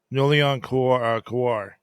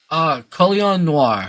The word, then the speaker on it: Colion Noir: There was a credit to Nulian Kowar. How do you say his name? Colion Noir.